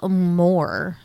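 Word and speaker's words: Mohr: the devil penis head little shit, played by Jay Moore, right? Yep. What? Okay. It's spelled M-O-H-R.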